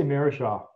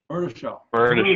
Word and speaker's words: Murtishaw: I just say Murtishaw. Murtishaw. I gotta get the T in there.